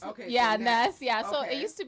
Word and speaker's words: N3S: name come about well it's actually pronounced Ness okay yeah Ness yeah so it used